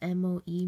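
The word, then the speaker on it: Moe: And she's trying to hide that from her friend, which is spelled M-O-E, Mo.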